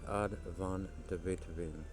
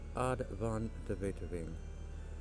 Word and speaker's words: Aad van de Wetering: Gonna check out a puzzle today called Indifferent Neighbors by Advon Deet. Uh hopefully I didn't butcher that name too badly. I've heard it pronounced that way on Kraken the cryptic odd von Deto.